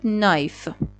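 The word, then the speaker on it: knife: هیچ وجه خودتون نخونید پس این شد نایف و املا درست من باید به اون اکورت اسپلینگه دقت کنم که بدونم این کنایف نوشته میشه البته کنایفه نوشته میشه ولی نایف خونده میشه تو املا باید نوشته بشه این ولی خونده نمیشه کل نکته‌ای که برای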